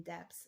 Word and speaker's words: depths: Like, you got to pronounce that P in depths. Like, the depths.